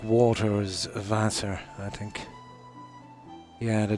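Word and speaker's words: Wasser: Randy are pronounced in German more like a V, isn't it? Like water is vassor, I think.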